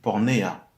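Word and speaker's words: πορνεία: Donc, quand on dit sauf pour infidélité, on nous parle ici en grec de pornéa, qui s'écrit Porneia, qui nous parle de relations sexuelles.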